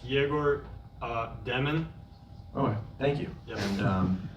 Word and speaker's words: Egor Demin: For Egor, I just want to first ask, how would you like us to pronounce, your full name? It's Egor Demin.